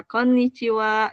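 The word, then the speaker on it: こんにちは: siang Halo itu Iya kon chiwa gitu ya double end ya untuk pelfalannya Oke Kak Damaris kayaknya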